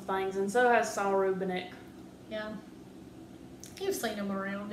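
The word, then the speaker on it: Rubinek: Rubinick? Rubinick.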